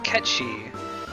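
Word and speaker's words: Cait Sith: I could just use W item it is catchy so it's supposed to be pronounced there's no reason you should know that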